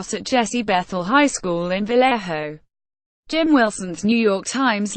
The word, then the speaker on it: Vallejo: congregate for lunch still Vallejo pronounced Vallejo is no Promised Land